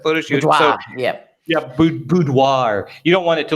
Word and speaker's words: boudoir: you say that photo shoot oh yeah yeah boudoir you don't want it to look like that